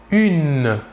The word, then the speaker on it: une: une il s'écrit humaine il faut bien différencier la prononciation entre le masculin et le féminin au masculin 1 et au féminin une voilà encore deux exemples